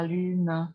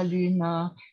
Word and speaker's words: lune: Já jsem tady nezmínila svou oblíbenou píseň Au clair de la lune, kdy vyslovujeme vlastně lune, lune na 2 slabiky.